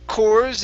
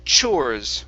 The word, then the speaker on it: chores: good this word here instead of um KES it's chores with the CH sound chores chores all right